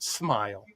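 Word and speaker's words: Smael: S M A L pronounced Smile. That's cool.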